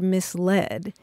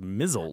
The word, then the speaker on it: misled: I've heard a lot of people pronouncing it as mizzled.